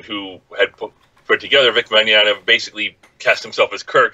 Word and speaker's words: Mignogna: Well, the one I sent you, and I blank on the pronunciation of his name, unfortunately, so you're going to have to say it. But, it's Mignogna.